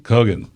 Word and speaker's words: Kogan: I was going to say Kogan. How do you say it? Kogan.